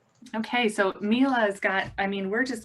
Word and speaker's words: Miele: market about the range of exceptional Miele appliances. And Jared, am I pronouncing Miele correctly?